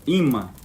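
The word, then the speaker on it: אמא: Ela é composta por Aleph, o Men, que é essa letra do meio, e o outro Aleph, né? Então, ela tem essa pronúncia, ima.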